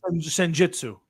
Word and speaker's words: Senjutsu: Senjutsu.